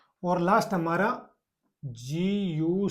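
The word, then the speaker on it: zia: ठीक है, उसके बाद में जेड आई प्लस ए, जी आ, जिया भाई इटली में आंटी को बोलते हैं, चाची को।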